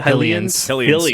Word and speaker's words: Hylian: Is that how you pronounce the Hylians? Hylians. Like helicopter.